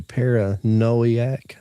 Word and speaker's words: Paranoiac: you pronounce it para it's supposed to be para noiac paranoiac that's weird it's like paranoia but it's got a c on the end it's got paranoia paranoiac kiss of the vampire